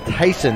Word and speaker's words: Thiessen: second base batting third ben thiessen is batting fourth and catching ben smith is batting fifth and playing third base then tyson is the correct pronunciation of the cleanup hitter